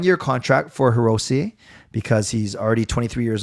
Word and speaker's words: Hirose: Sorry, there SE in Japanese is a long A. It's a A, so it's say. So Hirose.